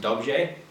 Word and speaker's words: dobře: It's in the word dobře, for example. D-O-B-R with a little hatchet, and then E, D-O-B-R hatchet E. So that's pronounced dobře, but that's still not entirely correct. I'm pronouncing it more of a j, where there's supposed to be an R at the front that rolls into that j, like a rj, but I can't do the R at the start yet